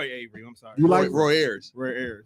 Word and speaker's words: Roy Ayers: And then Ron, what is it, Ron Avery?